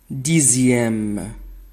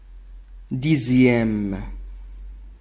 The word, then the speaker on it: dixième: Dans le nombre 18 et les mots dérivés de 2 et 10, la lettre X se prononce Z. 18. 18. Deuxième. Deuxième. Dixième. Dixième.